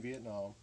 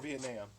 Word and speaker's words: Vietnam: So if you'll see here on the front of the box, made in Vietnam, or Vietnam, depending on how you want to pronounce it.